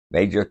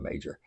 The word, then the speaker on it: Meijer: It's Meijer, it's not Major.